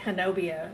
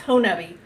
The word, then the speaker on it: Honey: And everybody says it wrong. It looks like Hanobia on the on the map, but it's it's Honi.